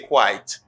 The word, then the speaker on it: quite: now you say quiet and this you say quite all right you say quiet you say quite